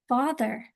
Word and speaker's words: father: That A is making an sound. Oh wait, it's making the sound. Like an O, but it's spelled by an A.